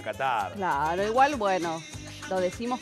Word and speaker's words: Qatar: Ser que se diga Qatar y en la occidentalización se le diga Qatar.